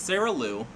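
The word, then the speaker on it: Sarah Lyu: I've been pronouncing her name wrong all year. I feel so bad, but it's Sarah Liu.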